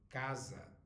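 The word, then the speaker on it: casa: that all right now C followed by a o u will sound like K wherever you are Brazil Portugal doesn't matter northeast southeast it sounds like k for example the word house it is Kaza Kaza all right but if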